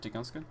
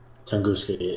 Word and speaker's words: Tunguska: But that's really all the events, and we'll actually show you the Tunguska, or how did you pronounce it? Tunguska, right? Tunguska.